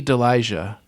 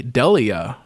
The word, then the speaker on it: Delija: for months now, Annie Delijah. It just looks right. Annie Delijah. I never really paid attention to how they pronounce his name. It's a Delia.